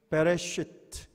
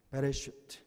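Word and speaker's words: בראשית: 뭐라고 읽는다고 했습니까? 베레시트, 그죠? 베레시트.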